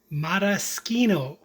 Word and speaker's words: Maraschino: Maroskino. That is the correct Italian way of pronouncing Madoskino cherries.